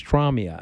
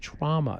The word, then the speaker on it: trauma: I say trauma. My mother says traumia. I said, Ma, it's trauma. It's 2 syllables.